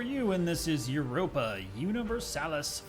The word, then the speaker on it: Universalis: you are you, and this is Europa Universalis 4. There, I said it right this time, haha! Last time I was going Universalis.